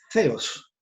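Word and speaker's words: θεός: Nosotros hablamos de Theos. Theos. Sería una pronunciación más exacta del griego.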